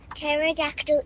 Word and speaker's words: pterodactyl: Why can't you hear a pterodactyl in the loo? Because the P is silent.